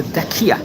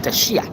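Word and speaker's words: Dacia: country was a province called the Dakia or Dashia. You can pronounce it in different ways over there.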